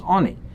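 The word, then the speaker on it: עני: Lechem oini, even though we pronounce it oini, but it is written without a vav, so it can be pronounced also as oni.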